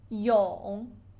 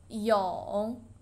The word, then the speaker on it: 蛹: Pupa, 蛹, 蛹. Third tone, 蛹.